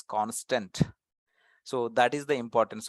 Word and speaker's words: const: c n St and we should pronounce that as constant so that is the